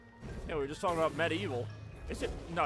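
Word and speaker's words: MediEvil: we just talking about Med evil is it no it's pronounced medeval or just like medieval but you just say the evil part more all right cut scene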